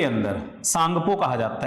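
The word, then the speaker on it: Tsangpo: टी यहां पे silent है, ठीक है, एस से पहले टी जब भी आता है तो वो साइलेंट होता ही है, ठीक है।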